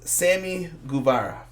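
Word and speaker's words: Sammy Guevara: We start off with Cody Rhodes versus Sami Guevara. Is that pronounced correct?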